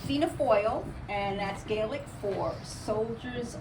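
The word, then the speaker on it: Fianna Fáil: how to pronounce it so it's PHA foil and that's galic for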